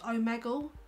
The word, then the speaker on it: Omegle: gone on the home page and it's actually pronounced omegle no I'm Eagle like I'd be calling if